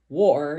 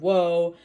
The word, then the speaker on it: Woe: and kept calling the the album harbinger of War instead of wo I don't know sometimes I get something in